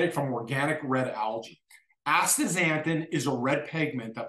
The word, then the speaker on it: astaxanthin: astaxanthin is spelled a-s-t-a Asta xanthin is filled with an X not a z x a n and then think thin like losing weight astaxanthin astaxanthin improves the